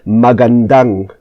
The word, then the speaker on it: magandang: It's magandang umaga po for good morning. Magandang, the stress is at the end, magandang umaga po.